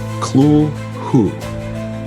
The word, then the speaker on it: Cthulhu: important to note that Lovecraft initially intended the name to be pronounced something something like clu who uh as it derives from an alien language that humans can't accurate pronounce however the simpler form